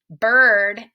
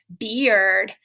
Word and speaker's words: bird: what they sound like for example word bird and herd all rhyme a lot of times people try to say them differently like word beard and haired that's not correct so